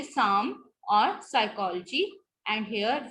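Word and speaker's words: psalm: Initial spelling sequence कैसी हुई, जैसे जब इनिशियल में P आता है तो ज्यादातर, not most of the times but mostly silent होता है. जैसे निमोनिया, न्यूमैटिक, साम, साइकोलॉजी एंड स्यूडोनिम.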